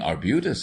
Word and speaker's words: arbutus: plentiful this is trailing arbutus is it not yes except pardon me with the ex Accent on the first syllable but I am becoming